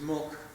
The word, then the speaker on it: Molech: This word right here, Milcom, Molech, milk, the actual way that name is pronounced is Mulk.